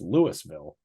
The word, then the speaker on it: Louisville: Well, you do say Louisville, though. Yeah, you do say Louisville. Unless you're in Colorado, where we have a town with the same spelling and it's Louisville.